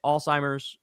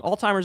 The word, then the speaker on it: Alzheimer's: But for the love of God, stop pronouncing Alzheimer's as if it has a T in it. Alzheimer's. I It's Alzheimer's. Keep up the good fight. I'm not saying that wrong. Alzheimer's is how you say it.